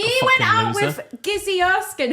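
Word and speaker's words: Gizzi Erskine: with Gizzy Erskine, who I always pronounce her name as Jizzy Erskine. Like, I honestly, if I read the name, I say Jizzy Erskine.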